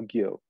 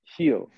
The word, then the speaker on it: Gil: Brian Gill I don't they say heel or Gill Hill yeah heal even though it's spelled with a G like he's been on